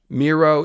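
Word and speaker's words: Mero: Um, but ultimately, if we're looking at archetypes, yeah, Miro is a hero. His name even rhymes with hero.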